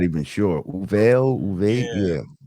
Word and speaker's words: Uvalde: How do you pronounce this? Uvalde. I'm not even sure. Uvalde, yeah.